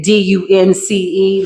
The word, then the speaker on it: dunce: Somebody said you was Dumbo wearing a dunce hat. Okay. D U N C E. Let's be clear, but the E is silent.